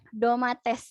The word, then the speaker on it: domates: domates domates artinya tomat domates biasa dibacanya biasa ya doa mengatasi domates artinya